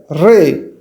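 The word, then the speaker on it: رے: किस English alphabet से मुमासलत रखता है? आर। और इसको पढ़ेंगे कैसे? प्रोनाउंसिएशन RAY, रे, या REY, रे।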